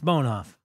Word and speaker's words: Bonhoff: Bon b o h Bonoff oh bonhoff is b a he complimented me for pronouncing his name right it's bonhoff all right bone off all right all right